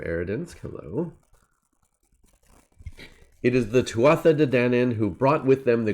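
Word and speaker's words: Tuatha Dé Danann: Okay, so Pete says Tuatha De Danann. Okay. I like it. Tuatha De Danann. I will attempt to remember that and do that pronunciation going forward.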